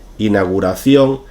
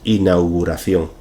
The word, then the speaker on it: inauguración: errores y es simplemente porque nos cuesta pronunciar los entonces como nos acostumbramos a decir inauguración llegará un momento en